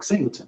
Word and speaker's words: Singltn: I didn't tell them how to pronounce it. I just wrote it Singltn. And they pronounced it when my drink was ready, and it was like Singltn. I was like, oh, it worked.